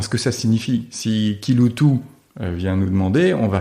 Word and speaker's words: Kiloutou: Donc il faut qu'on ait compris que Kiloutou veut dire Kiloutou, alors que ça s'écrit évidemment pas comme on l'entend.